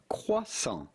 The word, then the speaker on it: croissant: french do just say croissant croissant the t at the end of croissant is definitely silent so do not say